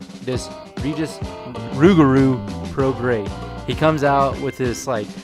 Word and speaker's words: Prograis: Yes, his name looks like it's pronounced Prograis. It is not. It is Regis Rougarou Prograis.